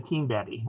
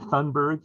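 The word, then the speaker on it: Thunberg: too i totally love greta tinberry i think that's pretty close to the swedish and greta thundberg in the british the anglicized version of how to say her name if i get ever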